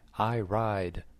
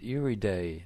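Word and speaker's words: Iride: said that's a great name for a bike I ride the exhibiter said it's pronounced everyday not I ride e'r'day is Italian for iris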